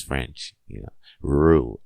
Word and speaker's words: rue: Rue, le Rue. It rhymes with poo. It rhymes with doo-doo. So if you know how to say doo-doo, you know how to say Rue.